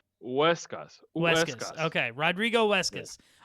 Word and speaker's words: Huescas: Okay, remember, don't say it like you're trying to sound it in English. Just say Huescas.